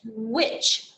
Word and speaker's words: which: it i would do it's pronounced witch as in which jacket is yours so let me write which on the board which